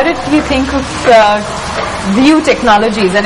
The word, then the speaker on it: VU: And it's pronounced as View.